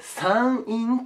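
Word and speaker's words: 山陰: 北の方をこの感じで 3 陰と言います 3 陰ねで逆に南の方下を 3 用と読みますいいね 3 陰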